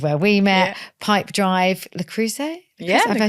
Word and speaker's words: Le Creuset: Lloyd which is where we met pipe Drive lrus am I saying it right yes but ALS